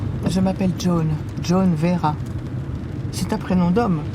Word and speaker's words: Joan: Ça s'écrit J-O-A-N, mais j'ai horreur qu'on dise Joan. Ça arrive tout le temps. Certains s'aventurent même à prononcer John, comme John Wayne, ça n'a rien à voir. C'est Joan.